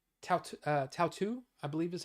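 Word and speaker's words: Tautou: Tautu, I believe is how you say it.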